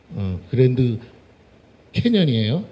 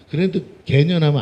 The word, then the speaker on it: 그랜드 캐년: 그랜드 캐년에 가면 발음 잘해야 돼. 이 된소리를 해야 돼요. 알겠죠? 그랜드 캐년이에요. 알겠죠? 웃지도 않아. 재미도 없어. 그랜드 개년하면 안 된다고.